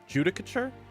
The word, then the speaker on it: judicature: you're kind of close it's pronounced judah couture judicature okay so apparently this